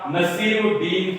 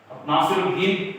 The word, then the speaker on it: नसीरुद्दीन: हाँ, जिसका नाम पूरा नाम था नसीरुद्दीन हुमायूं। नासिरुद्दीन प्रोनाउंस करोगे नसीरुद्दीन, नासिरुद्दीन हुमायूं।